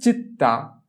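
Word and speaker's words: città: প্রথমে হচ্ছে চিত্তা। চিততা চিত্তা। চিই যদি চি এর পর ই থাকে তাহলে তার উচ্চারণ হয় চ এর মত চিই চি চি তি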